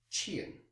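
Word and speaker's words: 欠: On the right hand side we have the component qian, Q-I-A-N, fourth tone.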